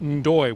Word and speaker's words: Ndoye: It is Albanian and it is pronounced Ndoye, we found out today.